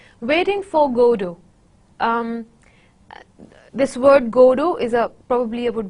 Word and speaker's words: Godot: God it is godo though we have T in the end but it is silent we do not pronounce it so it's good oh that we pronounce it's